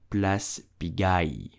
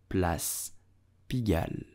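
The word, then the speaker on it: Place Pigalle: pronounce it bless begin do not pronounce it plus pigai but Plus pigal if you are looking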